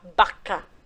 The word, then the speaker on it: vaca: um sonzinho do ver porque em espanhol ele é pronunciado com a letra b então eu não vou falar vaca eu vou falar vaca tudo bem ele pino